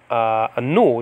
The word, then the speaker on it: nu: It is a nu. It's called the nu. Nowadays it's called ni, but it's called a nu in Biblical Greek, and that's an N.